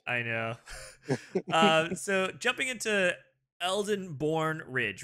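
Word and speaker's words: Elsenborn Ridge: Eldenborn Ridge, yeah.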